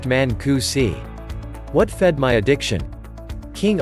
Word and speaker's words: Mancusi: Emmys mari is pronounced like the name mary Mancusi is pronounced Manku see what fed my addiction King Arthur I love